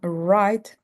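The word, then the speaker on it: write: And we have right and wrote. Right and wrote. So you see in right and road the W is silent. We don't pronounce the W.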